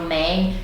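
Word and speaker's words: main: palavras, fica você ent, por exemplo, mão, eles falam man, é man, sabe?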